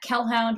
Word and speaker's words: Kelhound: And I'm on Twitter at Kelhound, which is spelt like Hellhound but with a K.